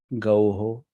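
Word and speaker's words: गौः: So this au will not be pronounced as au after H. This au will be pronounced as O. So, Gauho.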